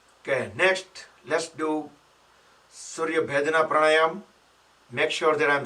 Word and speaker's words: Surya Bhedana: Okay, next let's do Surya Bhedana Pranayam. Make sure that I'm saying it correctly. Yes, Surya Bhedana.